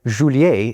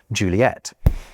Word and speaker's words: Juliet: as P and that without the added T, the French would say Julier instead of Juliet.